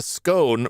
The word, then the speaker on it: scone: The scone, pronounced scone. Have I been pronouncing this incorrectly all my life?